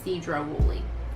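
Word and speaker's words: Sedro-Woolley: Yes, Cedro Woolley. We butchered names all the way across the country.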